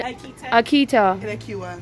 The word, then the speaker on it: Aqita: Okay, how do I pronounce it? Kabita. And Aqita.